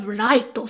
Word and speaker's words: 月: ヤガミ月くんかな But it's given the English pronunciation of Raito for some reason.